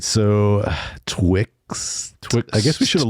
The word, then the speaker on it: Twixt: Yeah, Twixt. You got to add the extra T in there. Twixt.